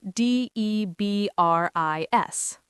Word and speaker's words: debris: D E B R I S. Debris. French origin. Silent S.